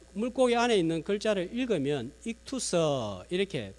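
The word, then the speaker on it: ΙΧΘΥΣ: 자, 한번 그림을 보여주시면 요즘은 차 뒤에 저걸 많이 붙이고 다니시는데, 자, 저 물고기 안에 있는 글자를 읽으면 익투서 이렇게 발음을 하는데 헬라어로 물고기 하는 단어입니다.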